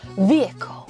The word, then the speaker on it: vehicle: 자동차라는 단어 한번가 볼까요 vehicle vehicle입니다 클이라고 발음하시는 분들이 있어요 그러면 안돼 음악의 장르